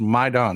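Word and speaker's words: Майдан: even though the word is spelled Maiden it's pronounced maidon it's a Persian word uh Ukraine used to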